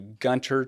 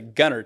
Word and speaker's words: Gunter: So when we came to Texas, we moved to Gunter, Texas or as a uh Texan would say, Gunner, Texas. So there is it's a silent T in there.